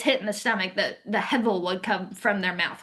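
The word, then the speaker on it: הבל: Um, Depending on how you want to pronounce Hebrew, it's Hebel or Hevel. Hevel is probably the more common pronunciation, Hevel.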